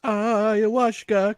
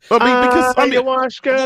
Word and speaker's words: ayahuasca: It's pronounced ayahuasca. Cole, come on. Ayahuasca.